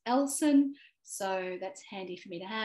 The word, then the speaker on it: Ellson: And then you can also add an audio pronunciation of your name. Lots of people call me Ellison, but it's Ellson.